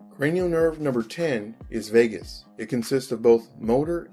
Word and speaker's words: vagus: The way to remember this one is vagus rhymes with anus, used for defecation, with a slow heart rate of 10 beats per minute. Cranial nerve number 10 is vagus.